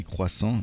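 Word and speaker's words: croissant: We say quason in French, but uh I like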